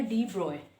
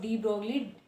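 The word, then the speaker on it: de Broglie: उनके नेम की स्पेलिंग इस तरह से लिखी जाती है बट इसको प्रोनाउंस किया जाता है डी ब्रॉय. ठीक है, एज ब्रॉय, नॉट डी ब्रॉगली, एज डी ब्रॉय.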